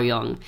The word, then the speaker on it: Jung: not familiar with Carl Jung, I highly recommend at least reading his Wikipedia page. It was a really interesting dude. Jung. Yes. That's how Jung is spelled. Exactly. Jung. Carl Jung.